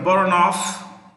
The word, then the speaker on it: Boronov: In June 2020, Kutabek Boronov, V is pronounced with an F, became the Prime Minister of Kyrgyzstan.